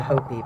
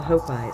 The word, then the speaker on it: Hopi: And it's actually pronounced the Hopi, but for our purposes it's the Hopi, symbolized by a couple of feathers.